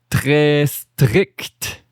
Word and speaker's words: strict: Très strict. Très strict. Okay, strict. Like fun hi-hat sound at the end.